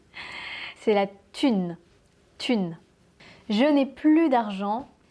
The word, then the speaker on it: thune: Mais celui que j'entends le plus, en tout cas moi, ça serait peut-être thune. La thune. On ne prononce pas le H, c'est pas thune, c'est la thune.